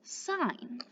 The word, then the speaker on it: sin: working with it in math but it is pronounced sine now if you notice on the abbreviation up